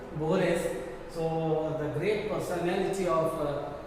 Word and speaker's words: Borges: So George Louis Borges, not Borges, we have to pronounce it as Borges.